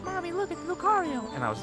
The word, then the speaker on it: Lucario: you go your whole life pronouncing a pokemon name wrong it's help that'll happen yeah did you call lucario lucerio for a long time yep i did i